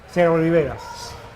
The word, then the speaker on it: Serie Riberas: And perhaps maybe you can start off by pronouncing it the Spanish way for us all. Yeah, Serie Riberas.